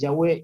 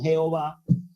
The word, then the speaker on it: Yahweh: Valera y otras han hecho una mala traducción de la pronunciación de la fonética del nombre del creador que originalmente es Yahweh y que ha sido tergiversado como Jehová además de otras versiones